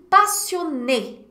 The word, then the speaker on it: passionnée: E aí, passionné, passionné. Tem vários adjetivos em francês que terminam com e, acento agudo, e. E aí, no feminino, basta colocar um e final, mas a pronúncia não muda.